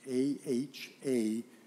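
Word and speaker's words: אהב: And the word love is ahav, and the A-H-A is missing on that. So if you could write that in your notes, A-H-A-V. And it's pronounced ahav.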